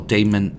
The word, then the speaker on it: daemon: against all demon enemies, or daemon enemies, I think is the right pronunciation right here.